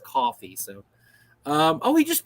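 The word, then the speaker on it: Ko-fi: of money in my Kofi account or coffee I I I've been I heard it's pronounced coffee so um oh he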